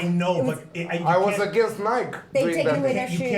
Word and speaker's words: Nike: the E on Nike. Nike, Nike. Nike. We always pronounce the E here.